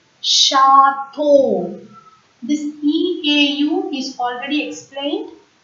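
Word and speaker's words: château: CH, when it comes together in a word, CH is pronounced as ish, sh in French. So this French word is pronounced as chateau.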